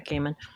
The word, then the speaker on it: Gaiman: I didn't know how to pronounce Gaiman. it. Okay, Gaiman.